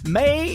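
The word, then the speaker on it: Mae: May is spelled M-A-E.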